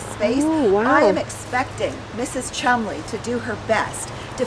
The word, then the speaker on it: Colmondeley: Shimanderlay. Shimandlay. that. Yes. Schmand delay. No, no, no. Barbara, this is one of those peculiar English words.